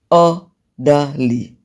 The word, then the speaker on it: orderly: So if you have 3 syllable words ending in suffix er and ly, they're usually stressed on the first syllable.